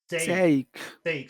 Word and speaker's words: sake: number one again say sake so you have to pull your tongue back like a snake about to attack sake sake s s